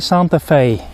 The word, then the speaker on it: Santa Fe: is the new Hyundai Santa Fe and that rhymes with it's very cold and gray today but don't you worry